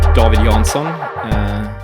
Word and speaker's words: David Jansson: David Jansson, pronounced in Swedish.